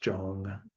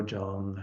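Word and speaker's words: sbyong: in there and then the other one is usually pronounced Jong L Jong and usually translated as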